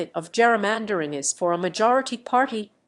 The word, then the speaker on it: gerrymandering: Though Gerry's name was pronounced with a hard G, like Dury, his namesake redistricting method is pronounced with a soft G, like Gerry. Read more. Is political gerrymandering illegal?